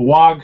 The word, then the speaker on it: WOG: I explained it once how a WOG should be like there's like a slight G, like almost silent but not. There's like just slightly there.